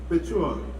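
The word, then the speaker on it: Bequia: 5 days later, he arrived to Balisur, where from the prisoners were taken to the port of Bekia, but pronounced Bechua, and where the vessels were anchored ready for the repatriation.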